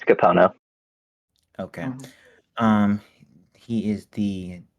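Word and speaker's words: Kapono: Capona, right? I said it right? Yeah, I think you said it right. It's Capono.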